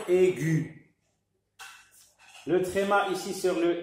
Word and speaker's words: aiguë: que c'est un tréma ce très mal nous indique qu'il faut prononcer la voyelle qui est avant donc on doit dire aiguë le tréma ici sur